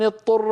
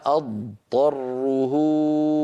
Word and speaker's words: اضطر: فمن اضطر ماذا يقول من لم يتدرب على هذه الكلمه يقول فمن اضطر فينطق طاء مشدده والعرب لا تفعلوا هذا يعني يدغم الضاد في الطاء والضاد لا تدغم في الطاء لابد من بيان الضاد وبيان الضاء جاءت هذه الكلمه ومشتقاتها